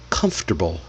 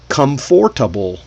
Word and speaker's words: comfortable: All right, we write four syllables on paper. Come for but when you see it, we say only the three syllables.